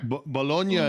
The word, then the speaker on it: Bologna: Bolognia is how you say the region. Uh it is called Bologna around the west of the world because nobody pronounces it correctly, but it is bolognia.